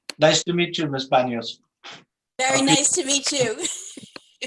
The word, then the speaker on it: Banios: We are here, the Hamilton School Committee, to interview Mary Beth Banios. Banios, is that the pronounced correct?